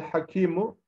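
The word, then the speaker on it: حكيم: El hakimu, ve her işi hikmetli olan. Burada şurası da mesela hakimu diye bitmesine rağmen sonda olduğu için okunurken tabii hakim diye okunuyor.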